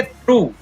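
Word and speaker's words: through: Next है इसको पढ़ेंगे थॉट, इसको पढ़ेंगे थ्रू, यहाँ पर ओ यू से आवाज ऊ की आ रही है वो ध्यान रखना है, इसको पढ़ेंगे थ्रू, यहाँ पर जी एच साइलेंट है।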